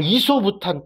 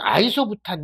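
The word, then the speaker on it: isobutane: 우리가 뭐 이소부탄 또는 아이소부탄 이렇게 하는 거죠. 이럴 때 뭐 보통 이소로 읽기도 하고 아이소라고 읽기도 해요.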